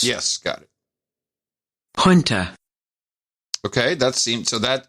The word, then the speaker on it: junta: two weeks ago okay so i've got two pronunciations for junta which has always been used in the united states says junta because it's a kind of a south american